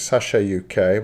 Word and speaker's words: CHUK: That's pronounced in their dialect, Sasha UK.